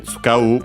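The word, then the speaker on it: 使う: Actually, tsukau, because it should be unaccented.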